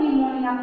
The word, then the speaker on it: pneumonia: देखिए निमोनिया किस तरह, देखिए पी साइलेंट होता है बेटा यहाँ पर, तो निमोनिया PNEUMONIA निमोनिया हो जाता है।